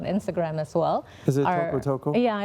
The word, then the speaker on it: Tokotoko: It's called tokotoko.us. And I also... How do you spell that?